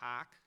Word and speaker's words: hough: the Lord bade him, and that word Hough, I'm sitting there going, how do you pronounce that? I had to look it up. It's apparently some sort of a Scottish word. It's pronounced hock. We would spell it Hock, I think.